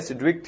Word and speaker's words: Sidgwick: theory हमको दी थी सिड विक ने यहां पे जी थोड़ा सा साइलेंट होता है तो इसको बोलते हैं सिड विक थ्योरी और इफेक्टिव एटॉमिक नंबर